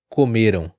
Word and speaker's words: comeram: Muito parecido, comerão, comeram. Uma sílaba muda tudo e aonde vai a ênfase, a tônica da sílaba, muda todo o sentido.